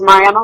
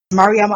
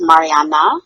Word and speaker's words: Mariama: Most often, they think it's Mariana with an N at the end, which is a beautiful name, but it's not my name.